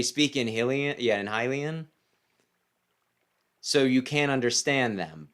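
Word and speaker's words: Hylian: Game Grumps, even though he knows that it's pronounced Hilian, insist on calling it Helian.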